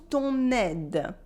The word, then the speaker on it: ton aide: can say merci pour ton aide. Thank you for your help. Merci pour ton aide. Repeat after me. Merci pour ton aide. Here I do la liaison between ton and aide.